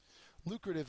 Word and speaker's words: lucrative: it's an adjective uh first syllable is accented it means bringing in